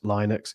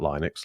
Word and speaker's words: Linux: with that operating system I don't actually know which one is the right pronunciate pronunciation I think it's Linux isn't it Rob was it like I used to always call it Linux um it is Linux um interesting point on